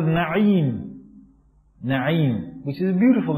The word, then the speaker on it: Na'im: But if you keep your child's name Na'im, which means fortunate, in this country they'll pronounce it Name. They don't say Na'im, they say Name.